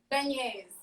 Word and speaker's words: beignets: Okay, so say that we're making jambalaya and that other word I couldn't pronounce it. How do you say it? Beignets.